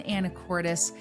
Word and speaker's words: Anacortes: and I'm a real estate expert here in anoris and that's how it's actually pronounced and I help buyers buy homes and sellers sell homes here and today we are covering the vibe of anoris Washington so as we cover the vibe of